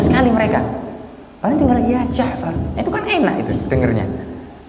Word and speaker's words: Ja'far: Nama saya itu Ja'far, mereka manggilnya ya Ga'far.